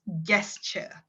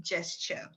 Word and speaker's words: gesture: future meetings and also the pronunciation of gesture someone pronounce it as gesture it's supposed to be gesture um and since this